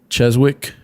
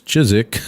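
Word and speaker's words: Chiswick: i was like uh can you get us to cheswick and they're like it's chizik you know so so i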